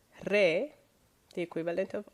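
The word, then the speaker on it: ره: Re. So the Persian R is re, a little bit like Italian R, less dramatic though.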